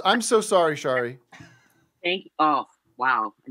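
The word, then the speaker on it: Sari: have for me today well first of all it's shari thank you matt what what what did you say my name is shari shari yeah okay but you spell it s-a-r-i yeah so add an h if you want me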